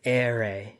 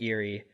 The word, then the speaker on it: Erie: then Seamus is like, "Oh, you boy, you're pronouncing it wrong. It's not Erie, it's Ere."